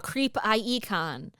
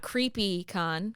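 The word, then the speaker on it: CreepIE Con: it was well hey thank you for saying it correctly a creep IE con yeah Inland ire it's not creepy con cuz they they will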